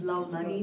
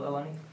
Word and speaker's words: Laulani: My name is Lau Lani. One second. Oh, sorry. Yeah. Say your name and spell Laulani.